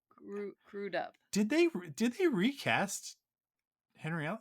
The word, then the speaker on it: Crudup: I full on thought it was Crudup. It's Crudup.